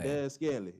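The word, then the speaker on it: Valdes-Scantling: Valdez Scantling. That's how you say his name. Valdez Scantling.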